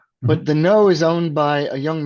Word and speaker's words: Knoo: It's called The Know, spelled KNOO. So not intuitive pronunciation, but The Know is owned by a